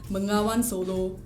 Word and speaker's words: Bengawan Solo: And you must say it like that. Bengawan Solo.